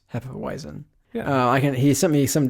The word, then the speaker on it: Hefeweizen: can say this correctly, Hefeweizen? Is that how you say it? I think like a lot of times the W's are more V-ish.